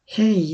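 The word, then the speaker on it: Hej: আমরা একটা ইম্পর্টেন্ট জিনিসও শিখছি যে যেটাকে ওরা যে বলে না, আমরা ই উচ্চারণ করি একটা ইর মতো, যেমন হেই। হেই এখানে হেজ হবে না, এটা হবে হেই।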